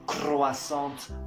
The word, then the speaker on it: croissant: Y no es crepes, croissants, papas a la francesas, escargots. Primero que nada de eso se pronuncia así. O sea, se dice croissant, crepe, escargot.